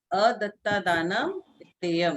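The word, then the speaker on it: अदत्तादानं स्तेयम्: अदत्ता दानम स्तेयम। तो सभी लोग साथ में इसका प्रोनाउंसिएशन करेंगे कि ये आदानम स्तेयम ये क्या है?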